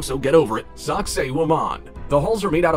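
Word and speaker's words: Sacsayhuamán: On the northern outskirts of the city of Cusco in Peru lies the walled complex of, and I will pronounce this wrong so get over it, Sacsayhuaman.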